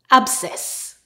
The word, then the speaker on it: abscess: When we have a combination of S and C together, the C is silent and we just pronounce the S sound. For example, a, b, s, e, s, abscess.